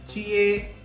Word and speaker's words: jie: Okay, so the rule for J is Chinese people don't say it like that way, like J. Okay, it's actually pronounced Ch.